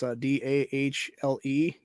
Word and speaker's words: Dahle: Yeah, Brian Dahle, I think it's how to pronounce his name. It's Dahle.